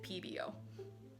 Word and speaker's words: Pebeo: is it pebeo or pbo the accents above the ease make me think it's pebeo but everyone i've heard pronounce it says it pbo i'm going to pronounce it pebeo hey y'all it's alex